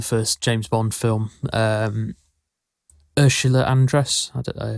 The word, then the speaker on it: Andress: No, the first James Bond film, Ursula Andress. I don't know. Andreas. That's how you pronounce her surname.